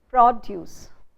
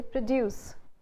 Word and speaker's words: produce: Now when these words are being used as nouns and adjectives, we put the stress on the first syllable. When we use the same words as verbs, we use the stress in the second syllable. So you would say produce if you are using the word as a noun. But if you're using the word as a verb, you'd say produce.